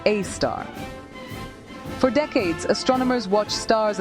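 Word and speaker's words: Sagittarius A*: At the heart of the Milky Way, about 26,000 light-years from Earth, lies Sagittarius A, pronounced A star.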